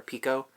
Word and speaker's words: picot: and stuff I think or Pico I guess Pico is the way you pronounce it in French it's that's fun I'm